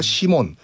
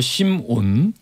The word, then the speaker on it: 심온: 발음 똑바로 해주세요. 심온. 네, 뭐랬는데요? 시몬. 시몬 너는 아니냐 압슬형을. 자꾸 시몬이래. 그게 두음변화 뭐 그런 게예요.